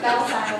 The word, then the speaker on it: Belzile: Belzile, peace. Yes. Belzile, peace. Brazil. Zile. Bell, like you're saying, ring a bell, and then Brazil.